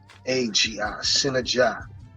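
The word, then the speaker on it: Sinnagi: His name is spelled S-I-N-A-G. S-I-N-N-A-G-I, Synergy.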